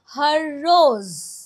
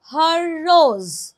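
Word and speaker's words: হররোজ: যাবে আমরা উচ্চারণটা করব হর রোজ। এখানে জয়ের নিচে একটা ফুটকি বসালেই সেটা জ উচ্চারণ হবে, হর রোজ।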